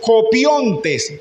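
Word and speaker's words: κοπιῶντες: Y esa palabra trabaja en el griego es copiontes. Copiones. Allá está en como se pronuncia, aquí está como se escribe en Diego.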